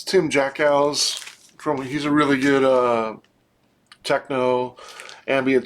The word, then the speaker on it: Jackiw: name is Tim, and his last name is spelled Jackiw. So it's kind of interesting. It's Jackow, I think.